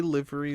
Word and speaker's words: livery: so like like like you say livery is pronounced with a short i is the point and